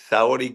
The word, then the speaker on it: Saori: So as you can read, my name is Saori. That's how we pronounce it here. But the root of that Saori, it comes from Shawori. That means the one who was Awo before in another life.